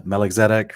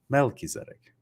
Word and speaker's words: Melchizedek: pronounce this word correctly guys this is the mel keizetic right not the meloxetic or the macal zedek or definitely not the malkiezetic but it's the melchizedek so yeah it's fun